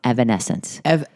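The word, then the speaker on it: Evanescence: Evanence. I usually can't make eancence. I usually can't pronounce names.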